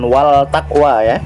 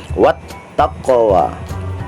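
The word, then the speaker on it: وَالتَّقْوَى: huruf selanjutnya adalah Ta Maka cara membacanya adalah What bukan wall takwe tetapi dimasukkan wattaqwa kemudian alif lam syamsiah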